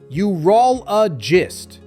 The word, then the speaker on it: urologist: The correct way is urologist. Start with U, then roll, add a soft and finish with gist. Together, urologist.